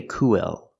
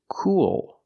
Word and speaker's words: cool: but it's not a vow we don't say Co it's cool cool like pool and tul keep watching to